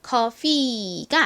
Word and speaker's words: coffee: 그리고 가장 끝에 이는 무슨 소리가 나죠? 원래는 좀 긴 이 소리가 나는데 이 단어에서는 예외적으로 그렇게 길게 소리가 나지 않고요. 그냥 이로 소리가 납니다. 그래서 coffee가 아니라 coffee, coffee 이렇게 발음이 돼요.